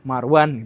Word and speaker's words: Marone: Atau misalkan marone marone dibacanya marwan gitu.